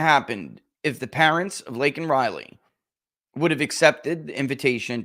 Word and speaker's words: Laken Riley: the President of the United States got her name wrong. Not really. Lincoln Riley, an innocent young woman who was killed. Laken Riley.